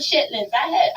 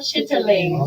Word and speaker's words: chitterlings: They not called chitlins. My ninth grade English teacher said they are called chitterlings.